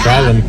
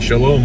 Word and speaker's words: Sholom: Sholom Park. We've been saying Shalom all these years.